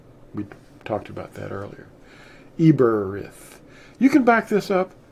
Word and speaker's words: Eberith: it is aramith the the word hebrew is really more correctly pronounced eberth we talked about that earlier eberrith you can back this